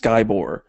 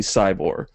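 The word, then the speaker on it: Scibor: And it's from, I believe this is pronounced Skybor. It seems like it should be Cybor, but everybody on the internet calls it Skybor.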